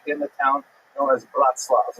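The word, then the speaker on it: Bratslav: the town known as Bratzlav, not to be confused with Bratislava and it's usually pronounced in Yiddish as breast. the ner breast love uh is just a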